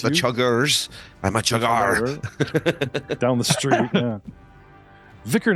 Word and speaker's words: Chuggar: STONE CHUGGAR. Stoned Chugger. Oh, Chuggar, not Chugger.